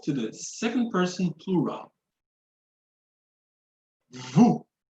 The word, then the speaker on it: vous: Vous. Vous. So same case here, I will not sound the S.